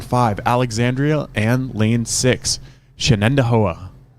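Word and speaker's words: Shenandoah: And lane six, Shannendoa.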